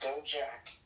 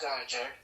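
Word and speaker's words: Dijak: defended American Title against dojack die Jack excuse me that's pronounced die Jack This Woman's NXT Tag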